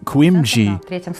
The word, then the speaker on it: Kuindzhi: He is Turkish, according to his last name, as his real last name is Kuindzhi, with the accent on the last syllable.